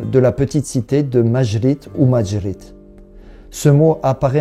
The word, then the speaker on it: Maŷrit: mot arabe en castillan, vu que la lettre J se prononce re, c'est la rota, on va utiliser la lettre Y avec un accent circonflexe dessus pour rendre le son J, ce qui donne la forme Majrit qu'on trouve parfois à